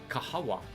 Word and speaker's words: kahawa: is that kahawa kahawa they are pronounced correctly kahawa so they start when